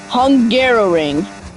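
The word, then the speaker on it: Hungaroring: Also, um I think one of the hardest tracks to pronounce is the Hungar Ring, which is basically the F1 track for Hungary. Hungarrow ring. I learned how to pronounce it just yesterday.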